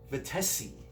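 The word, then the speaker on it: Vettese: And the keyboard guy, yes, Peter John Vitesi. That's how you say it correctly.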